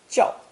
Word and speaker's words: 叫: This character is pronounced fourth tone, 叫, 叫, with those tangled vines also serving as the phonetic element.